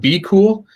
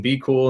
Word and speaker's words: BQool: We recommend Be Cool. So if you want to use a repricer, we recommend using Be Cool, and that's spelled BQOOL.